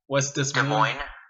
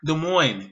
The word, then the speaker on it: Des Moines: You don't even have to enunciate. You really don't. It's just silent letters.